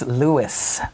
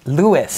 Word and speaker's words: Louis: a second Lou Louie it's Louis Lewis no no it's you